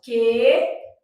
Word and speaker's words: queria: No caso de queria, esse U não é pronunciado. Então, a gente faz assim, ó, queria. No caso de rainha, a gente tem um NH que não é pronunciado.